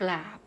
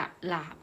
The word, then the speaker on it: กราบ: คำ ว่า กราบ พระ เรา จะ อ่าน รวม กัน เวลา สะกด นะ คะ ก็ รอ อา บอ กราบ เรา จะ ไม่ อ่าน ว่า กะ หลาบ นะ คะ การ อ่าน ออก เสียง ควบ กล้ำ นัก เรียน ต้อง เอา ตัว ที่ หนึ่ง ใน ตัว ที่ 2 มา รวม กัน อ้าว คำ ที่ สอง